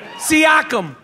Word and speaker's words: Siakam: I fucking been practicing the pronunciation of his last name all day. Yeah. Siakam.